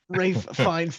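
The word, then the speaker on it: Ralph Fiennes: Rafe Fiennes' name is spelled neither Rafe nor Fiennes.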